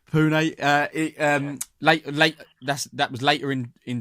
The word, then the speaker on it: Pune: Is it Pun in India, Pune? Pronounce it for me, Glenn. I think it's Pune or Pune.